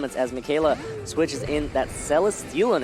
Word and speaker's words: Michele: apologies for mispronouncing his name it is actually pronounced Mikayla so my apologies for that one luenell is